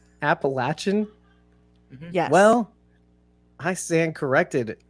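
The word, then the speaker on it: Appalachian: York mouth right now it's not that's not how you say it what it's appalachin get out of here appalachin yes well I stand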